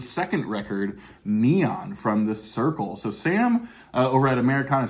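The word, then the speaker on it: Cyrkle: he was their manager who said, "You should be called the circle." And then it was actually John Lennon who allegedly told them to spell it this way. So that's C Y R Kle E.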